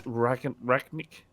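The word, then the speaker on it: Rangnick: I don't even know how to pronounce his name. It's Ragnick. Is it Rag? Yeah, Ralph Ragnick. Yeah. Ragnick.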